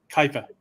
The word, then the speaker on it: Kuiper: Kuiper. Kuiper? So Kuiper is outside. Kepler is one that actually discovered how did I pronounce it?